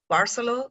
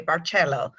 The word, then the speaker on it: Barceló: from Palma de Majorca so you can pronounce Marcello barceló the please don't say bar cello because we're not from Italy so I just make